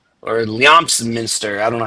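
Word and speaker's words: Leominster: He's from a place called Leo Minster or Leamsminster. I don't know how you pronounce it. I don't know if you know where that is. S Lemonster.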